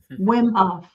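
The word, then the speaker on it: Wim Hof: Um George Barnhill says uh William Huff the Iceman Wimhof. Wimhof. Yes. Yeah. Yes. Yeah. I got his name wrong.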